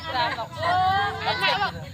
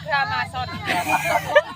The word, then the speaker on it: Gramoxone: Baca Gramoxone. Nak wong ini kan ngomong lah gramason. Nah, mau Jawa. Ngambene mau Jawa. Baca, Bu. Seharusnya X-nya ada dibaca itu.